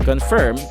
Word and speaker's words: confirm: Well, the trick is with the I syllable after the F sound of the word confirm in the second syllable. And yeah, I think I just said it. So to pronounce the term properly or with a neutral accent without the need to stretch your face, you simply have to pronounce the I sound as a U sound, or as an elongated U sound.